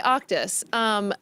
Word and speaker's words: Auctus: It's Auctus, but almost. Yeah, Auctus. thank you very much for having me. Oh, that's good. Okay, Auctus.